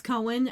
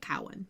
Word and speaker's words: Cohen: But, like, it's Cohen, and I always want to say it Cowan because of how it's spelled.